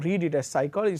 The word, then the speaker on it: psychology: And psychology, say for example, you write PSYCHOLOGY and you read it as psychology, so the P is silent.